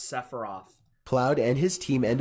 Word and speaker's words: Sephiroth: Separiath. Separiath. This is my favorite, chills. Which is like him reading RPG characters, but he doesn't know how to pronounce Sephiroth.